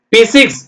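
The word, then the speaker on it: physics: எக் rap photograph philosophy B லா சபி philosophy பிசிக்ஸ் pitch Y பி சி இக் இஸ் பிசிக்ஸ் அடுத்து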